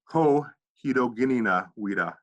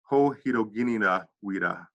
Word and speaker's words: Ho Hidoginina Wida: Ho Hidoginina Wida. Also, one of the things that you're going to notice is that when I say that, because of this I, and it's a nasalized I, sometimes when an R